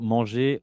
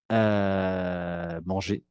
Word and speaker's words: manger: Es decir, que para los verbos del primer grupo, la pronunciación entre su infinitivo y su participio pasado no cambia para nada. J'ai mangé, eso he comido, ¿ok? Y su infinitivo es manger, ¿ok?